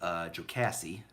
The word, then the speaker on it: Jocassee: One is called Devil's Fork, which has Lake Jocassee. I made sure I pronounced that right.